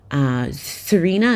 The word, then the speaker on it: Xirena: They had Dolan, they had Serena. Serena is spelled Xirena.